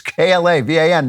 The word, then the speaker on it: Klavan: It's Klavan. No E's in Klavan.